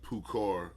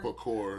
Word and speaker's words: parkour: This is a game of tag right here, but it's like Pukar. And how they say it? Parkour.